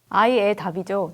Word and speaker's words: AIEDAP: 아이의 답이죠. 네. 무슨 뜻일까요? 그게 이제 사람들이 아이의 답이라고 읽기까지도 좀 어려웠는데 네.